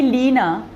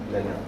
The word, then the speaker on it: Lena: If you call me Leena, it's not me. Right. Lena. It has a different vibrational frequency.